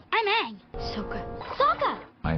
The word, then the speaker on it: Aang: And by the way, just a fun little tidbit, they do pronounce the names different from the show as well. My name is Ong. I'm Aang.